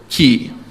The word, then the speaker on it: QI: They write it QI for quality, quality, I don't know, index or something. But they pronounce it Key.